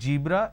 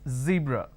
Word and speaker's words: zebra: Now what people make a mistake is they replace the z with a j. So what they do is they pronounce this as zebra, John, Jeel. So please don't make a mistake. The moment you replace the z with a j, it's a mispronunciation. It's not zebra, it's zebra.